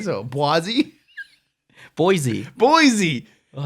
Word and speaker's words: Boise: states you live in helena bwazi blossie what's bosey how do you say it bosey idaho blazi